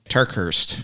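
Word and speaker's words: TerKeurst: out here how do you say that name turkhurst turkhurst yeah Lisa turkeys yeah I didn't know who wrote that yeah so they're going to look at the book trustworthy by Lisa turkhurst and there is a 10 book fee so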